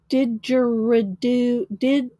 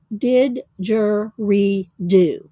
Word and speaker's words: didgeridoo: Oh, this is that Australian musical instrument, a didgeridoo. I know I'm not saying that right. Didger. It has it phonetically here, but I'm still not getting it. Didgeridoo.